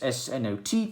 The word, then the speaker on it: SNOT: the branches with this SNOT technique, as I like to call it. It's just usually pronounced snot, but it's just an abbreviation for the studs not on top technique.